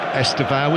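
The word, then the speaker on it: Estêvão: Estevao has become the accepted pronunciation for his name.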